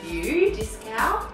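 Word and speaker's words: Dieskau: D-I-E-S-K-A-U, Discau. Pretty sure that's how you say it.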